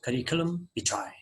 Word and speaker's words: curriculum vitae: This is a noun, pronounces curriculum vitae.